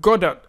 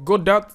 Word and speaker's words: Godot: in today's video we're talking about Godot or God do depending on what side of the planet you're coming from your pronunciation definitely would actually matter and what we're talking